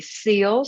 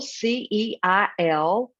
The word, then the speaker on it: Ceil: Ceil, Ceil, like the singer, but not spelled like that.